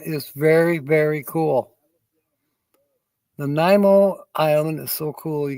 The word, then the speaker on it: Nanaimo: Nanaimo. Nanaimo.